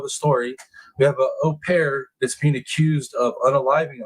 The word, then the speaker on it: au pair: Mother of Brazilian au pair charged in Fairfax County killing says she wants answers.